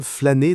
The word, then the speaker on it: flâner: On peut dire « j'aime flâner dans les rues de Paris » ou « cet après-midi, j'ai flâné au jardin du Luxembourg ».